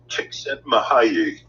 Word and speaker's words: Csikszentmihalyi: And the way it is pronounced is Mihaly Csikszentmihalyi.